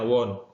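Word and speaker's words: won't: biasanya disingkat menjadi Won ditulis menjadi Won atau dibacanya Won misalnya saya katakan I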